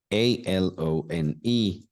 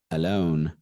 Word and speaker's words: alone: more words more words a l o n e the word is alone a it starts with uh alone say it with me everyone uh alone alone let's look at the